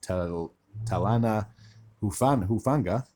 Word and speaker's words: Talanoa Hufanga: The Denver Broncos have signed safety Talanoa Hufanga, I do believe is how you pronounce his name, from the San Francisco 49ers.